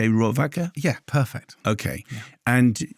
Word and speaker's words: Rohrwacher: She's Italian, and it looks like Alice Rohrwacher, but it's Alice Rohrwacher.